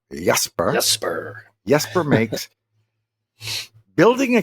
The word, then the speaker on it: Jesper: It's spelled Jesper, but that's not how you say it in Danish. It's Jesper.